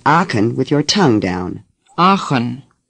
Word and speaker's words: Aachen: often first say it as if the CH were a K I can notice that when you produce the K the back of your tongue goes up for a moment do it again say aachen now try to hold your tongue down as you do when